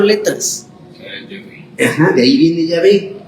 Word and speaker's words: Yahvé: Cuando va al final, no se pronuncia. Por eso algunos escriben Yahvé así como suena, sin la H al final.